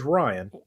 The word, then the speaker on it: Ryon: I said, "No, you got it right. It is Ryan."